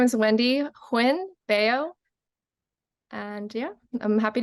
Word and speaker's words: Huynh: and I'm going to ask her to uh pronounce her full name for us Wendy hi my name is Wendy Hinn beo and yeah I'm happy to be here